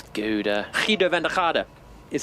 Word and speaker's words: Gouda: Rodrigo says it's pronounced Gouda because it's Dutch. Like it's Gouda.